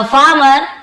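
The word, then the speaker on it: farmer: बहुत से लोग फार्मर, फार्मर र को पूरा पढ़ते हैं, लेकिन आप ध्यान देंगे पढ़ते समय थोड़ा आर साइलेंट जैसा था, फार्मर ऐसे, फार्मर एकदम, आपको फार्मर ऐसे नहीं बोलना है।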